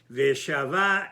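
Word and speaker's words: וְשָׁבָה: But he's trying to say that in both cases, the pronunciation is milera, which normally would have been mile'el. Veshava el bet aviyah, and she returned to her father's house.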